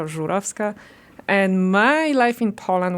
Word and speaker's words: Zurowska: my last name because the original way you should say it is Zurovska, which is even more hard. Okay. Yes. My name is Zurovska or Zurovska and my life in Poland was beautiful.